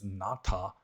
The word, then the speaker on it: Nāta: To understand it as grandson, it should be pronounced as Nāta, to mean grandson.